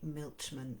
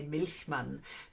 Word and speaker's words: Milchman: The Second Mother by Jenny Milchman, or with my German roots I would say Milchman, but apparently that's not how you pronounce it in North America.